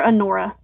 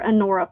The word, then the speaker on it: Anora: Yes, these are Anora. These are Anora pearls. Anora is spelled like honor with an A on the end if you want to look them up.